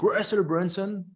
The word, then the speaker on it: Russell Brunson: Donc Russell Brunson, je prononce à l'américaine, c'est un entrepreneur américain qui est spécialisé dans les tunnels de vente.